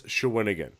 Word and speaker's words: Shawinigan: So we did find out that the actual pronunciation of that town is Shawinigan, and we found that out from the TVA sports people that were present at the fight.